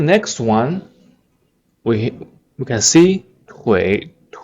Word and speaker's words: 腿: The word Twitter, if you can pronounce Twitter, you can pronounce 腿 Twitter 腿 It's legs.